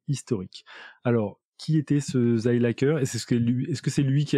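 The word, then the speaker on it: Seilacher: s'appelle le triangle de Selacher, j'imagine que je le prononce bien. Oui, ça c'est la prononciation française. Zeilacher en allemand, Zeilacher.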